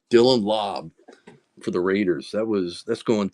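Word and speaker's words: Laube: Dylan Lube.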